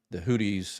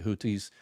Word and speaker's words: Houthis: Iran supports Hezbollah out of Lebanon, Hamas out of the Gaza Strip, the Houthis, I always pronounce it incorrectly, Houthis in Yemen.